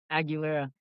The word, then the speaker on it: Aguilera: Can you pronounce that for me, Damian? Aguilera.